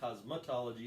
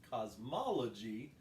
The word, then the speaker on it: cosmology: what makeup you're wearing the actual pronunciation that is not cosmetology it's cosmology there's not a another top in there just just the cosmology so yes that is